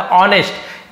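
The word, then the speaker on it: honest: था वेरी बहुत ज्यादा ऑनेस्ट यहां पर भी एच एस साइलेंट है केवल ऑनेस्ट बोलेंगे नेस्ट नहीं बोलना है हमें यहां पर भी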